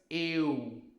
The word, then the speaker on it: eu: And this which is u. The same u in Portugal. Right? Not and not pew. Right? Not computer or tune. Just u. Together it becomes eu.